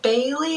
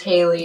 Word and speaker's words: Haley: The reason I spell it is because my voice is nasal, so people always go, is it Bailey? Is it Kaylee? It's Haley, Great Haley.